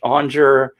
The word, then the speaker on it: Aunger: go by plant my name is onger that's spelled a-u-n-g-e-r in case you want to look